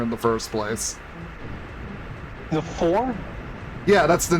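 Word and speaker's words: Pfhor: The four?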